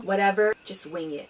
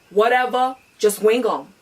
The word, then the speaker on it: Wuteva, Jus Wing Um: Today I'm going to bring you a brand new segment which I'm going to call Whatever, Just Wing It, or more properly pronounced Whatever, Just Wing Um.